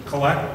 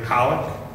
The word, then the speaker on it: collect: The collect or the colic. I grew up hearing it being called the colic, so that's what I don't know why. Is it spelled like colic? Mm-hmm. It's spelled the exact same way.